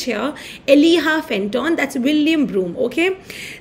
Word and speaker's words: Elijah: William Broome and Elijah nahi bolte, it's Eliha Fenton. Okay, Jacob, you pronounce as H here. Eliha Fenton, that's William Broome.